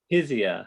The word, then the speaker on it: Hizia: in french is it is it pronounced hai zee heisia izia okay physia and can you